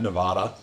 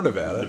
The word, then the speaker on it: Nevada: obviously played uh tackle at Nevada or Nevada depending on how you say it if you're friends I